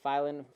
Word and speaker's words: Filan: Yeah, I think it's Filan. Yeah. Filan. Yeah, it rhymes with flying.